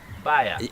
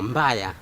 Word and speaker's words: mbaya: Baya. No, mbaya.